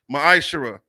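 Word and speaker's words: ma'aser: through ten means tenth in the hebrew it's pronounced maisha ten percent of every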